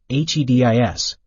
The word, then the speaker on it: HEDIS: care and healthcare effectiveness data and information set HED is pronounced HEDIS there are also organizations devoted to obtaining